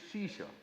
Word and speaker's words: Ashish: For Punjabis, my name is Shisha. A is silent. Just like it's not knowledge, it is knowledge. Same way, it is not Ashish, it is Shisha.